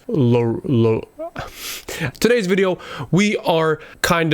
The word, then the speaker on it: LAROI: leroy the kid leroy laura english people pronounce it like that laura but it's lo today's video we are